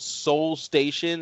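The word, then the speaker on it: Seoul Station: like train to business it's called soul station it's spelled s-e-o-u-l station where can i watch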